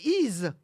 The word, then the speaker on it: Y: Le village d'Y, on prononce I, le nom de la ville, mais ça s'écrit Y, une seule lettre dans la vallée de la Somme.